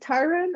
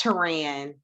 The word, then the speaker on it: Taran: And then is it Tyron? I don't want to pronounce it wrong, so I'm sorry if I butchered the name. Okay, I'm trying to come off mute. It's Taran.